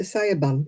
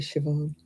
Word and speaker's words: Sian: who used to say can I speak to Sayan please I said actually Shan yeah oing or is